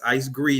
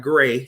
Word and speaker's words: Icegre: g r e uh my name is pronounced with a long e that's ice gree not gray you know what I'm